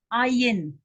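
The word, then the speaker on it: עין: So, wat hier, this is the second silent letter in the alphabet. This one also, this is an ayin.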